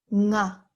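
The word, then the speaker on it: ང: And the last one, nga. Nga. Nga. Nga. So it's with the ng, n, and g together, the sound is nga.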